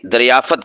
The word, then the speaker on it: دریافت: دریافت کرنا، فا بھی ساکن تا بھی ساکن، ہم بول دیتے ہیں یہ چیز دریافت ہو گئی ہے، دریافت، فا کے اوپر زبر پڑھ دیتے ہیں، یہ غلط ہے، دریافت، ٹھیک ہے؟